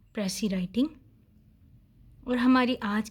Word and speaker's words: précis: साथ ये कनेक्टेड है, लेकिन इसकी ठीक प्रोनाउंसिएशन है प्रेसी और लास्ट लेटर इसका एस जो है वो साइलेंट रहेगा। नेक्स्ट, प्रेसी जो है वो फ्रेंच वर्ड है।